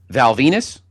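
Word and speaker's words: Val Venis: Val Venus. Rhymes with penis.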